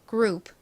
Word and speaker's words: group: P는 정확히는 약하게 프 소리가 나지만 너무 작게 이렇게 약하게 소리가 나다 보니 발음을 빨리 하다 보면 group, group, group, group, group 이렇게 받침처럼 소리가 납니다.